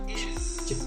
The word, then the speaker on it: is: time we will use the ending is with a voiced Z. Is. Is. It doesn't matter that it's spelled with an S, it's never S, unvoiced, never, it's always is.